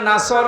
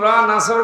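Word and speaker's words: نصر: দাঁড়ালে পড়েছে এখানে আছে নাসর মানে সাহায্য আর নুন সিন নাসর মানে ইগল পাখি আপনি যদি মুখটা গোল করে শুদ্ধ করে উচ্চারণ না করেন অর্থ আকাশ পাতাল পাল্টিয়ে যাবে আল্লাহ পাক বলেন হে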